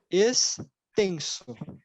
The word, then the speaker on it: extenso: Mas quando a gente tem o X no final de uma sílaba aqui, ele vai ter o som de S.